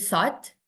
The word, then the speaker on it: thought: meneruskan melanjutkan he he thought he thought tadi Bacanya apa ya ya yang benar jadi ini gh-nya enggak dibaca ya gh-nya Karen kita belajar ghnya gak dibaca he thought jadi tinggal